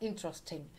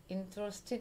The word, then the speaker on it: interesting: И, значит, смотрите, такой интересный пример про слово interesting. Интересный, да? Кстати, произносится как с буквой «т», так и без буквы «т». Interesting и interesting.